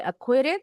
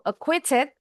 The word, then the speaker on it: acquitted: Bacanya boleh acquitted atau acquitted. Huruf T-nya jelas.